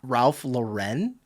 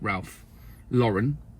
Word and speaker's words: Ralph Lauren: people the people at Ralph Lauren and uh and one of my colleagues was was was repeatedly saying Ralph Lauren cuz cuz cuz we're you know we're English. That's how you say Ralph Lauren.